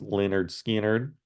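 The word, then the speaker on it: Lynyrd Skynyrd: they did back uh on this debut album pronounced Leonard skard Al Cooper produces and his use of mellotron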